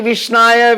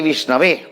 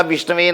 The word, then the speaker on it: विष्णवे: मूर्खो वदति विष्णाय विद्वान वदति विष्णवे। मूर्ख कहता विष्णाय नमः विष्णाय नमः, विद्वान कहता विष्णवे नमः विष्णवे नमः।